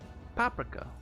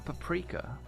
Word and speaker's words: paprika: Hmbo paprika or paprika depending on your preferred pronunciation.